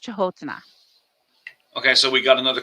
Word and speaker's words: Canotina: That's how it's spelled, but it's pronounced Chahotana.